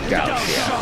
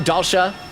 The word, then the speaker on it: Dalsha: The paragon of warfare, Dalshia. Oh, am I saying it wrong? Dalsha, not Dalshia?